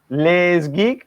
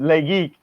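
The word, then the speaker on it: LesGeek: it's it's less geek less geek laze geek I don't know le s GE e K which is lit laze geek there's a s in there Oh in French it's silent no my my my linguistic coach over here said lay geek but it's it's le s 3d printer calm but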